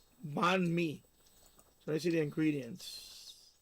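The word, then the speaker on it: bánh mì: Ban me. That's how you That's how you spell it. Ban me. B A N H M I. Ban me.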